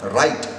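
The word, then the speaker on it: write: in the world like W R I T we pronounce it as right but where is this W going on and the word like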